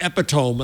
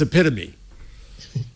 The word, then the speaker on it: epitome: my mind's ear i i hear epitome and i have to say no you idiot it's epitome oh jeff i went